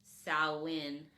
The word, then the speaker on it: Samhain: a m h a i n but it's pronounced SN s o w w i n that's the